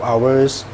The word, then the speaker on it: hour: Cuman di bahasa Inggris ini ada satu kata ini. Ini gimana bacanya? Ini jam kan artinya kan 1 jam. an hour, 2 jam, 2 hours. Ini kebetulan yang satu ini di bahasa Inggris ini nggak dibaca, hanya. Oke, jadi ini hour.